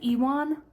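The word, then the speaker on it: Iwan: I said Ewan, even though I know it's not spelled like Ewan. She said Ian, which is arguably worse. Anyway, apparently it's Ewan.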